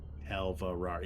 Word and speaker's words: Alvarar: Alvarar, yeah, that's how you say it.